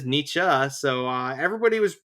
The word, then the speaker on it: Nietzsche: Um, but anyways, uh, I I swear that he said Nichi suicide or Nichi certified and I looked it up and uh, no, he says Nichzche.